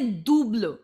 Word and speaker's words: double: day double uh so whenever it's double letter you will say do blue use the word and